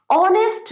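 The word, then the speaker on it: honest: এইচ তো mute বা silent, এখানে উচ্চারণ কি হচ্ছে?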